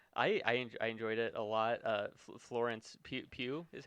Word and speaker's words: Florence Pugh: Florence Pugh is how you Yeah. say her name. Florence Pugh.